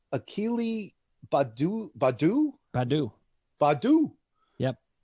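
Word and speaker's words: Baddoo: some great guys and i love how you pronounce his name it's akili badu badu badu badu yup it's the long-lost brother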